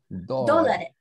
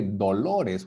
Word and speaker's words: dólares: Because sometimes we say dolores, which means pain. Dolores. You see? Oh my god, dólares. So how do you say the other one? And then the second, this one make the A really strong.